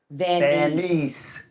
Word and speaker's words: Vaneese: van he this is this is the correct way to say my name vanise vanise so Harold's the only